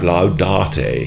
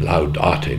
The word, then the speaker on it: laudate: And when we mispronounced the Latin, laudate, and it came out laudate, he said, "There is no R in laudate, Mr. Gardiner," and sort of G'd us along.